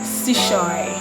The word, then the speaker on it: Chesouye: please pronounce your name and guys i literally pronounced my name every single video my name is sushoi okay that's money second question i got is